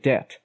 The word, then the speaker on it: debt: are silent letters in some words like debt where we don't find any B while pronouncing some letters are pronounced